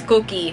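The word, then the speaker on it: Kuki: My very close friends and the people I live with, my family, they call me Cookie. The backstory there is that since it's spelled K-U-K-I, when I was a baby, I used to always look like I'm angry.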